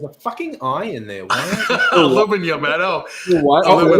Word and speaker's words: aluminium: Aluminium. You're missing an I. Wait. Aluminium. What did you just say? What the fuck did you just say? There's an I in there. You guys don't say the I.